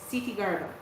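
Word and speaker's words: Kṣitigarbha: It's Sitigarba, or in Japanese, what I find easier to pronounce is Jizo.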